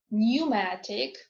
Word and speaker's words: pneumatic: Okay, now is silent in the groups of letters PN, PS, PT. For example, pneumonia, pneumatic, psychic, pseudo, ptarmigan, receipt.